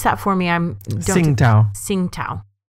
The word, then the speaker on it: Tsingtao: Pronounce that for me. Tsingtao.